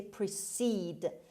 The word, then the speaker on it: precede: enjoy word number two precede precede precede how i'm turkey beneath stress is on the second syllable on c and we say precede means go before come